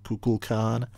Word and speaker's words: Kukulkan: and suddenly the serpent himself appears, the real Kukulkan, or Kuklakan, if you prefer Shatner's pronunciation.